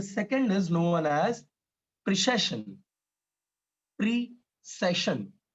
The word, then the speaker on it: precession: प्रीसेशन, ध्यान रखना, प्रिसीजन और प्रिसेशन ये दोनों चीजें एकदम अलग हैं, प्रोनाउंस करने में थोड़ी मिस्टेक होने की वजह से गड़बड़ हो जाता है मामला, तो प्रोनाउंस अच्छे से करना सीख लेना।